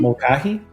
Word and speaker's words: Mulcahy: Mulcahy.